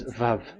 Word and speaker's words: Vav: We called it as VAV. VAV. Your mouth is like closed. VAV. So it's V as in Vogue.